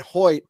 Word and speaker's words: Hoecht: with the addition of Michael Hoy am I saying it correctly yes Hoy I looked it up all